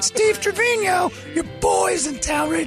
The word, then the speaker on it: Trevino: how you say it trevino yes yeah that's the spanish pronunciation steve and i are